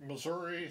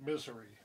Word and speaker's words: Missouri: Some people pronounce it Missouri, some people pronounce it Missouri, but people who live there pronounce it Misery.